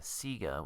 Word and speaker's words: Sega: Australian TV ads from around this time pronounce Sega Sega, which really pisses some people off.